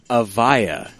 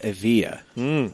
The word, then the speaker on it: Avia: He says there's a given name in Hebrew, but it's pronounced Avaya instead of Avia.